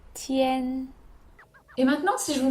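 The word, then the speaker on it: 天: hommes c'est le ciel ça s'écrit comme ça et ça se prononce tienne et maintenant si je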